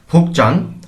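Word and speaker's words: 복장: পরিচ্ছদ এবং কাজের মনোভাব ফুকচাং পোশাক বা পরিচ্ছদ এখানে গিয়া বাচ্চিমের পর জিউত আসার কারণে জিওটিকে চ এর মত উচ্চারণ করতে হচ্ছে ফোকচাং পোশাক পরিচ্ছদ গোয়া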